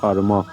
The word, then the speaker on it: কর্ম: আমি দেখো এখানে হচ্ছে রেপের দেখো যে পরিবর্তে আমরা বয় বিন্দুর র ম এর সামনে দেখো ব্যবহার করতেছি এবং ম ঠিক রাখবো আমরা তার মানে অর্থাৎ আমরা কর্ম এটাকে উচ্চারণ যদি করি তাহলে পাচ্ছি আমরা কর্ম এরপর হচ্ছে তিন নাম্বার